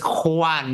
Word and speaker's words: Juan: little bit because it's Juan but I don't think you can do a j like that Juan Juan Juan Pablo